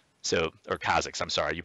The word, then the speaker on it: Kha'Zix: And even though, yeah, he's really strong, he's an extra item up, you can still execute him as Kha'Jix. So, or Kha'Zix, I'm sorry, you pronounce it differently.